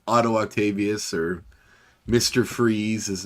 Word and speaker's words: Fries: e s or i so it looks like fries kind of if you're looking at it but it's like pronounced freeze so yeah well that's